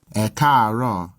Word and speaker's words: ẹ káàárọ̀: Note that if there's more than one tone in one syllable, then the vowel is normally written once for each tone. These 3 A's are all part of a single syllable, but with a high-low-high progression.